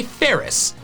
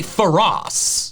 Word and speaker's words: ferrous: The first part of their names comes from the word ferrous, which means containing iron. You say ferrous, you don't say ferros. The word is ferrous, so it's phariseed and ferrothorn.